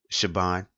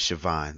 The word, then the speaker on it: Siobhan: sound so it's pronounces Chabon but the young lady I know pronounce it is Siobhan like with the V sound and I've seen Siobhan